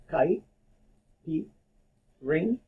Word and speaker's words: caipirinha: say it right so I will divide the word into four syllables chi beep ring yeah so basically the Chi part if you think of a kite that's the pronunciation for the Chi davinia like a ki4